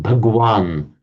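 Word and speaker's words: भगवान: from Sanskrit there's this the phrase um bhagwan which is how it's pronounced in Hindi bhagwan is an honorific title for a respected guru call.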